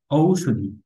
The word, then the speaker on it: ঔষধী: আচ্ছা এরপর হচ্ছে ঔষধী ঔষধী ঠিক আছে ঔষধী এটা ঔর মত উচ্চারিত হবে ঔ মানে ঔষধী ঔষধী আর এটা একটু দীর্ঘ